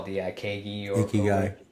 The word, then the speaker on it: ikigai: of their, what do the Japanese call the Ikegi or Ikigai. Or, Ikigai. yeah, yes, thank you. Obviously my pronunciation is terrible, but it's that combination of